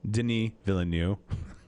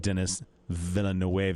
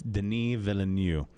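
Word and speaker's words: Denis Villeneuve: um and what and um villanu the director Deni villanu I want it noted that I pronounced that correctly uh most people think it's like Dennis vill because it looks like that but it's not it's Deni villanu he's French um they were he was joined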